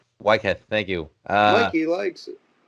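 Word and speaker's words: Weikath: In reference to the whole religious aspect, I think at the time, Waike, did I pronounce it right? Sure. Whatever. What is it? Wycliffe. Wycliffe, thank you.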